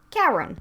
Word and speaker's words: Chiron: One of the characters is named Chiron, but it is pronounced Karen.